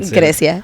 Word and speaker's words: Grecia: Grecia. I said it. Did I say it right? You did. You said it right.